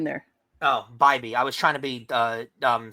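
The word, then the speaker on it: Bibee: Tanner, is it BB or Bybee? I think it's Bybee. Look at the rundown. I have the pronunciation there. Oh, Bybee.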